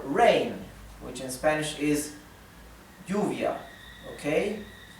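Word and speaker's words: lluvia: which in Spanish is Juvia okay in Argentina and Uruguay is pronounced shovia so if you ever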